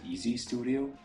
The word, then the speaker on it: EEZ Studio: a e e Studio I think to just pronounce it EZ Studio where you can also